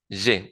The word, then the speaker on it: je: Entonces, no decir je suis, sino je suis, y en este segundo, pronunciar bien esa E normal, je, bueno, normal para el español, je, que sería entonces yo tengo, je.